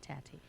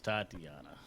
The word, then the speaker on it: Tatiana: No, I said Tatiana. You said Tati. So it's Tatiana.